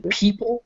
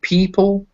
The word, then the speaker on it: people: up in leopard and in people it's pronounced like e in leopard it's pronounced like ah so people leopard like i say